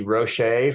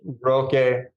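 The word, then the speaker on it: Rocche: also have the 90 Roche for 210 but okay it's a hard C just Roque we've got the 99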